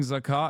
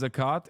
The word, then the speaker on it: ZAKA: uh not criticism asra you're mispronouncing zaka as zakat which is the Islamic yearly charity tax yeah I know what